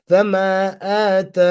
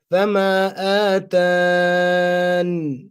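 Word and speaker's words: فَمَا آتَانِ: The extra ya can be dropped or pronounced during waqf. So hadful ya or ithbatiha. You could do both. You could drop it. So if you drop it, Fama atan.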